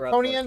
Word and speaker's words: Harkonnen: Yeah, you said it right Harkonian first time.